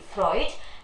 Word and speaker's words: Freud: freud please knock down the spelling that for eud freud sigmund freud is the pronunciation uh his life span